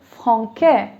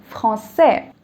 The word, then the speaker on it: français: C is pronounced as K. So without the accent, it would have been franquais. And I want it to be français.